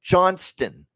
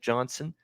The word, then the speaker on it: Johnston: t in there right there's a t in that last name Johnston Johnston now I know sometimes when you say it quickly it'll sound like Johnson you know but you know if you say it like Wyatt Johnston and maybe the t is not enunciate but it drives me nuts when I hear Johnson for a guy when it's Johnston and I heard that